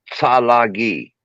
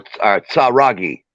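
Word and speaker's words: Tsalagi: the difference now understand the original way to pronounce Cherokee was was salagi or saragi TSA Dash r a dash g i saragi well the tsaragi were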